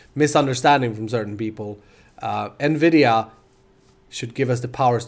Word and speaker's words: Nvidia: than that we got a GTX 980 card Nvidia which is how you pronounce it by the way in case there was some misunderstanding from certain people uh Nvidia should give us the powers to do 16